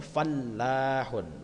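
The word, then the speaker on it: فَلَّاحٌ: Jadi cara bacanya fallahun, la-nya pakai tasdid.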